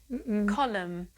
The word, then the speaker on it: column: Column. Silent N. Just like with solemn.